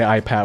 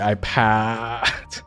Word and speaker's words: Hi Pats: You have to like yell the A. Okay, so it's So we say Hi Pats. We don't say Hi Pats.